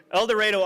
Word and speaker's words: El Dorado: Mary is from El Dorado, I said it wrong before, El Dorado, Arkansas.